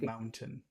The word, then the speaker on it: mountain: uh so just yeah say the T don't try to do that I mean it's not important it sounds better if you don't do it Mountain just say Mountain Mountain but so which